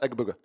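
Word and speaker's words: Egbuka: Just say it real fast. Egabuka. Egabuka.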